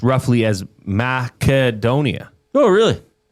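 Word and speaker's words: Македонија: Oh, in Macedonia, uh, the country's name is pronounced roughly as madonia. Oh, really? With the stress on the third syllable do and a clear hard K sound, not an S.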